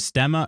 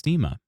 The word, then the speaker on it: diastema: t e m a I wasn't sure if it was stemma or steema but it's steema according to this uh pronunciation thing here so good morning spooky but up since 1:30 a.m.